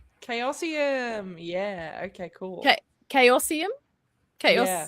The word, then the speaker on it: Chaosium: director, Chaosism. Chaosium.